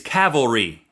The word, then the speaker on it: cavalry: It's cavalry.